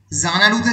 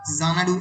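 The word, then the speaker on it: Xanadu: সম্পূর্ণ হয়নি, ততদিন চিরকাল জানাডু এক্স দিয়ে শুরু হবে আর জেড দিয়ে তার উচ্চারণ হবে এবং এক্স দিয়ে লেখা হবে।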